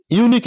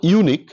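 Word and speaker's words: unique: আসলো ইট ওয়াজ এ ইউনিক experience এটা ছিল একটি অসাধারণ অভিজ্ঞতা একটি অসাধারণ অভিজ্ঞতা ইউ এর উচ্চারণ যখন ইউ এর মত হয় তখন কিন্তু এন বসে না এ বসে তো এটার উচ্চারণ ইউনিক ইউনিক ইট ওয়াজ এ ইউনিক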